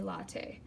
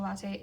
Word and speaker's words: latae: of it is called the pronunciation is questionable because latte is spelled la ta e and a Starbucks latte is la te or la TT e so just a difference in spelling but it's just a